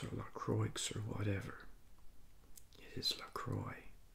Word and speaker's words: LaCroix: Today I'm reviewing this LaCroix Orange Sparkling Water, naturally essenced. Here's a picture of the can here. And the company reminds us that it rhymes with enjoy. It is not pronounced Lacrosse or Lacroix or whatever.